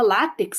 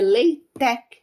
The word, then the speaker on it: LaTeX: eh o ltech né a gente fala látex latex aqui no Brasil né porque se escreve l t e x mas a pronúncia correta é leit tec né Eh para quem